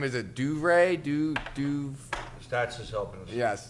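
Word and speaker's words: DeVries: Is it Duvray? Stats is helping us. Yes. Stats. DeVry.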